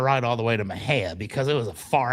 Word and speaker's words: Mexia: So, I have very little experience and we get this lead and it's in Maha, Texas, which is spelled M Xiai A. You would think it'd be Mexia, but it's Maha.